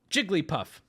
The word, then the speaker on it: Jigglypuff: you're struggling you're struggling you can say it like this but when asked how many syllables this is correct you can run around and call it Jigglypuff be my guest but please when asked the answer is three I feel I I